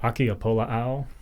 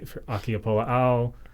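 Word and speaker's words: ʻAkiapōlāʻau: But Akiapola'au is a really good one, and another they're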